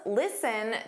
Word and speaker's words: listen: Now please listen to these words with a silent T. Did you notice that the T in listen isn't pronounced? It's never pronounced because it's a silent T.